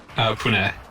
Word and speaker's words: Pune: How is this city's name actually pronounced? Let's check the internet. Pune.